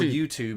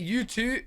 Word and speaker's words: YouTube: wait Do America say YouTube YouTube yeah tub e is tube why do we say YouTube That's c h u e tube it's not a tube it's a tube why do we say